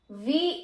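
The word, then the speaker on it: vent: अब अगेन जहां पे ई एन टी आ जाएगा उसकी जो साउंड होगी, उसकी जो प्रोनाउंसिएशन होगी वो होगी ओ। ओके, तो जब हम इसको एक साथ पढ़ेंगे तो ये हो जाएगा वो, वो।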